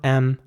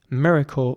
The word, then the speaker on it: miracle: And the C towards the end, again, is pronounced like a K, so it's miracle, not miracle.